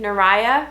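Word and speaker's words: Neriya: So N-E-R-I-Y-A, Nariah.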